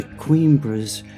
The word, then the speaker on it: Coimbra: So I'm walking up to Coimbra's venerable university at the top of the hill. I wasn't sure how to pronounce the name of this city, so I